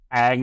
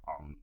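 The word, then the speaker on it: Aang: okay um that's and if it's Ang it's Ang it's not on okay even if it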